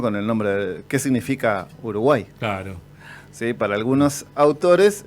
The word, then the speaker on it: Uruguay: Y no se dice Uruguay, se dice Uruguay. Uruguay, exactamente. Esa pequeña acentuación cambia el significado.